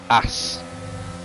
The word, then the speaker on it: Haas: We'll go up here and see see how the Aston and the Haas get on. Or if you're Spanish, as, because the H is silent.